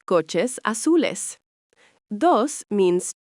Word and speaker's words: azul: Same with azul, pronounced azul, blue.